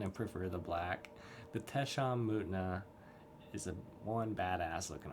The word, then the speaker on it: Tesham Mutna: And I just want to compare it to our Tesham Mutna. That's how you pronounce that.